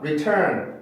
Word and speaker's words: return: 그래서 원래 발음인 T 발음을 살려줘야 돼요. 그래서 return, return, return 이라고 발음을 해야 정확한 발음입니다.